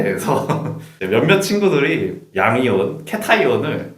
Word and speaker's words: cation: 그거의 발음에 대해서 몇몇 친구들이 양이온, 캐타이온을 캐션이다.